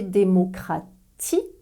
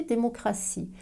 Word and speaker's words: démocratie: une démocratie alors attention démocratie s'écrit avec tes plus e-plus eux mais n'est pas prononcé democraty s'est prononcée démocratie c'est le cas dans